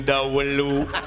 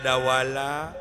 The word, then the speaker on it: Dawala: jeung Dawelu aing mah ngomong teh bet ieu wae atuh Atuh letah teh bet ka Cidah teuing. Dawelu Salah wae eta teh. Nya urang bejaan atunya. Sing sahadeui nu. padahal Dawala Mun urang mah kanu